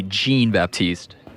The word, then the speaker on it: Jean-Baptiste: Stanley Jean-Baptiste or Stanley Jean-Baptiste? Well, I pronounce it Jean, but mostly everybody pronounces it John.